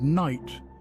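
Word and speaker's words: knight: Take the word kernel, pronounced kernel, which sounds nothing like how it's spelled, or the word night, where the K and GH are silent.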